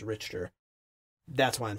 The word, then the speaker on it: Richter: I said Richter, they said it was incorrect, and it was Richter.